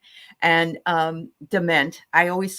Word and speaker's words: Diment: being back with us today this is Debbie Diamond and um DeMent I always say your name wrong I'm sorry and um I want to